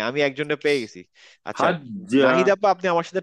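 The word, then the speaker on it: حجّ: আজ হাজ্জা। হ্যাঁ আবার বলেন তো আপা। হাজ্জা। না, আপনি যা উচ্চারণ হয়ে যাচ্ছে, হাজ্জা। হাজ্জা। বর্গীয় জ হজ্জা ক্লিয়ার উচ্চারণ করতে হবে, হাজ্জা।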